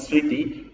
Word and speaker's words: স্মৃতি: আমি আপনাদেরকে উদাহরণ দিচ্ছি, দেখুন এই দেখেন ম্লান, এটার দেখেন লফলার উচ্চারণ হচ্ছে, কিন্তু দেখেন ন্যূনতম, স্বদেশ কিংবা স্মৃতি এই শব্দগুলোর দেখেন প্রথমে উচ্চারণ হচ্ছে না।